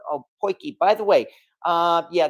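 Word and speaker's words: potjie: the interesting thing as well is how oh poiki by the way uh yeah that's how it's actually pronounced and I know from people in South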